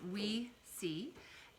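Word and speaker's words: Oui Si: yes so it means yes yes but it's pronounced we see and it's kind of like we see um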